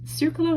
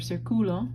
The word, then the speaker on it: círculo: Círculo has an accent mark on the I. It's functioning the same way as this one. It's making you say círculo instead of circulo.